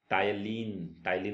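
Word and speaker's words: ptyalin: Human saliva contain the enzyme known as टायलिन होता है वो एंजाइम होता है ह्यूमन स्लाइवा के अंदर, इसमें पी साइलेंट रहता है।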